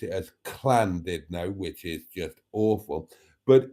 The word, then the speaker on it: Llandudno: Llandudno should be a little bit more guttural than it is. But in reality, it's not. Now, English people often pronounce it as Llandudno, which is just awful.